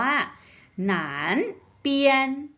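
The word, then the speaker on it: 南边: มาก เลย เนื้อ หา ตัว นี้ ออก เสียง ว่า หนาน เปลี่ยน หนาน เปลี่ยน นั้น เปลี่ยน นะ คะ ตรง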